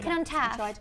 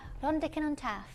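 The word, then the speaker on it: Rhondda Cynon Taf: I don't know if I pronounced that correctly. Rondican on Taff. That is. What's that? Rondican on Taff.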